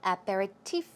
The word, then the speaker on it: aperitif: word for appetizer and aperitif is another one the stress goes right there on the last syllable I did check out